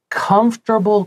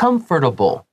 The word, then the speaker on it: comfortable: So now, Dana says, first tip, wearing comfortable clothing is...important. Now, this word comfortable, you can say comfortable. 把它发得标准一点点。 Yeah, comfortable. But when we say it quickly, comfortable. Oh, yeah. 就中间的 OR 不发音，你直接 comfortable.